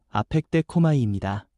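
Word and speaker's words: ἀπεκδέχομαι: 여기서 기다린다는 말은 헬라어 발음으로 아펙데코마이입니다.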